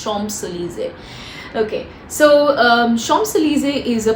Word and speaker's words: Champs-Élysées: I think again I'm pronouncing it properly. It's Champs-Élysées. I think it's Champs-Élysées.